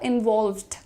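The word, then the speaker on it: involved: आप कह रहे हैं इनवॉल्वड इनवॉल्वड इनफेसिस कहां पर है? ओ के साउंड पर है।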